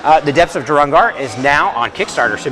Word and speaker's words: Durangrar: Durangrar. Durangrar.